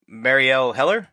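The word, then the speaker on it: Marielle Heller: uh this is directed by what's her name Marielle heler that's right is that yeah did I get that name pronunciation right yeah you got it right hey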